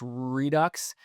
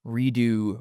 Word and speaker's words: Redux: Redux. And I I'm pretty sure it's Redux. three redux cuz I thought, "Ooh, it's actually pronounced redo redo the X's silent."